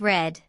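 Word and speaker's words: read: is drink not drinked the past tense of Reed is spelled the same Reed but it sounds a little different like red don't worry too much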